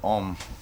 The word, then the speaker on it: Homme: spokes man clear that that word ohm it's because it means a man in French it's it's like Smith